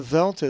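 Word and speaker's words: δέλτα: The dheltah is always pronounced as the as in that, not D as in dog, but the soft the.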